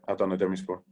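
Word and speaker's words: Adana Demirspor: Is it Adana Demaspor? Demispor. Yeah, Adana Demispor.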